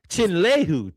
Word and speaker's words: Chinyelu: So the loss that Florida took, Chinyelu is how you say it.